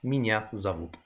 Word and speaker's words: Меня зовут: So yeah, it's spelled Меня зовут, but it's pronounced Меня зовут, owing to where the stress is.